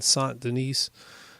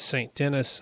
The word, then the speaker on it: Saint Denis: this was my first time in sont de nies actually pronounced it st. Denis until I heard what how to pronounce it right I'm going to leave